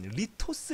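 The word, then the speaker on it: λίθος: 같아 봐 그 얘를 여기 읽으면 리 토스 라고 읽는 갖혀 리 토스 정성에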